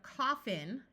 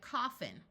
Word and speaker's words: coffin: In this word, our second syllable will schwa. So instead of coffin, it tends to sound more like coffin.